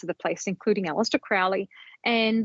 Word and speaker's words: Crowley: British people might say Crowley or something a little different but I'm going to keep tripping over myself I think all the magic people will say cruy rhymes with holy cuz I think that's